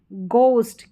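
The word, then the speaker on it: ghost: Rule क्या है, vowel के बाद में, तो वहाँ पर एच साइलेंट रहता है। ठीक है, अब यहाँ पर है एच, क्या है, एच, ये है गोस्ट, क्या है, गोस्ट।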